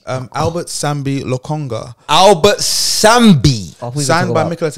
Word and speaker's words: Albert Sambi Lokonga: Albert Sambi Lokonga.